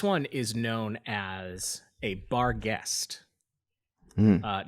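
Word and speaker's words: barghest: like that and then it's generally accepted that guest is the northern English pronunciation of the word ghost so bar guest oh okay you're actually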